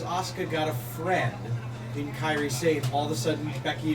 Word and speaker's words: Kairi Sane: But Kairi Sane, I said it right this time, right? Kairi Sane. Kyrie. Closer.